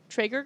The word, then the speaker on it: Traeger: So we are we're raffling off a Traeger grill. Is that how you pronounce it?